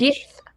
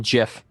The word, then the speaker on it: Gith: Is that GIF with an F or GIF with a TH? Gith with a TH.